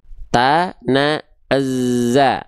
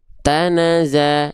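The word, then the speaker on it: تَنَزَّلُ: Nah, maka ketika kita lafalkan, kenapa ditekan dulu? untuk menunaikan sifat huruf zai yang awal ta nazza. Nah, kalau kita apa penggal-penggal tuh bacanya gitu ta naza tanaza. Paham enggak? Makanya ditekan ya ditekan. Oke. Tanazza tanazza gitu. Kalau dia ee tidak ditekan jadinya gini tanaza jadinya seolah tidak ada tasdid.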